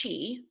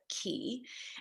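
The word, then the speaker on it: QI: Yes, it could be pronounced chi, but key.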